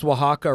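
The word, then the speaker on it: Oaxaca: And I got to tell you, man, you pronounced Wajaka, right?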